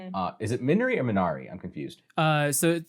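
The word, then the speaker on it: Minari: you i'm minority uh is it minori or menari i'm confused uh so it's it's so since it's korean yet to pronounce it's the it's korean word it's pronounced miri so mina ri okay cool okay just make sure i didn't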